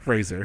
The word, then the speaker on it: Fraser: I should say, how do you say it properly? Fraser. I can't. Fraser. Fraser, that's what it is. Yeah. I got to just imagine a Z there every time.